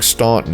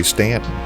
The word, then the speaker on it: Staunton: Locals say that the people here began saying Staunton as we do today only after their throats were so full of coal dust that they could no longer say Stanton.